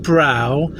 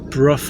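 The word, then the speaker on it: Brough: say I keep saying Brow. It's B R O U G H. It could be pronounced Bruff I suppose as in Lothbr.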